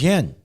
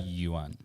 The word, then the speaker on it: yuan: However it is It's pronounced. it's yen, right? The Chinese. I think Sure. so. Look, are you for getting this? China is offering Saudi, right, to deal in Chinese yen. Okay? Yuan.